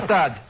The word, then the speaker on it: Gstaad: Gstaad. O G é mudo.